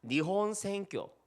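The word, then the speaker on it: 日本宣教: 니혼 생교. 일본 말 하신 겁니다. 일본 선교를 니혼 생교라고 발음합니다.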